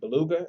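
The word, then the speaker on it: Bulaga: Beluga? Is that how you say it? Yeah, Beluga. Yeah, Beluga.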